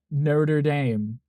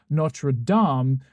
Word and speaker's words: Notre Dame: Being Canadian, living in an English-French bilingual town, we're raised to believe it's Notre Dame, so it always makes my skin crawl. Yes, because I've been to France. Literally heard the pronunciation, and then here in the US, when they say Notre Dame, I'm like, it's the same word. Why are you saying it differently?